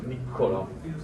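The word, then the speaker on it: Niccolò: So mine is with one C, like Nicolas, but it's very common with two C, so Niccolo. But basically you pronounce it the same.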